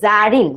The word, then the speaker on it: Zarin: কিন্তু এটা হচ্ছে যে আমার উচ্চারণটা কি জারিন, বাংলায় লিখলে ব্যাপারটা হচ্ছে কিছুটা এইরকম।